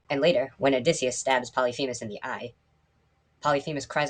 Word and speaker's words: Polyphemus: am going to say his name is pronounced polyphemus and if you have a